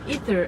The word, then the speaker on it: Ae:ther: should I call you Ether? I don't know. It's ether. It's ancient word. It's Greek word. Yeah. So it's ether, basically. Okay. So because you don't pronounce the A.